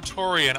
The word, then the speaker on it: Turian: I pronounce it Torian, I still pronounce it Torian. There's no A before I in Torian.